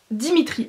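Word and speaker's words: Dmitri: du personnage qui s'appelle dimitri alors en fait ça se prononce dimitri mais ça s'écrit dm item y le prénom ne s'écrit pas pareil que la prononciation et moi j'ai voulu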